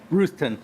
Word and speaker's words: Ruthton: Ruthton, sorry.